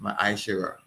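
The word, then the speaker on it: מעשר: And it means 10 in the Hebrew, it is pronounced ma'ashera.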